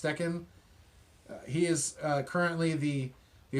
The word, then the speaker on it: Steichen: interviewed him but uh shane steichen or steccan i think it's pronounced stechen he is currently the